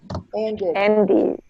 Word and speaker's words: ended: So what is the pronunciation in past? Ended.